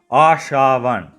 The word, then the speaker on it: Ashavan: Ashavan. You can remember it easier as Asha 1.